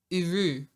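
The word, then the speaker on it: Eru: Uru. Can you spell that for me?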